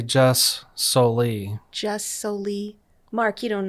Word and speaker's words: jus soli: Another term that you might want to know is the Latin term jus soli, a Latin term that means right of the soil.